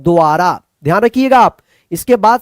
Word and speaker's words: द्वारा: द्वारा, द्वारा।